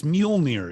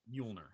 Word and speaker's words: Mjolnir: It's Mjolnir is how you say it. Mjolnir.